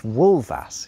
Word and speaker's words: wulfas: The Old English for wolf is wolf, but wolves is wolvas. You see how it's pronounced with a V sound despite it being an F?